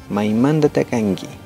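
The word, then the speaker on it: maimantata kanki: Maimanda takangi. Ñukami kani pukaramanda o Ecuador manda. Las letras en roja están subrayadas. Esas se cambian. La letra T se pronuncia como la D, la K como la G, por eso, Maimandata Kangi, ¿de acuerdo?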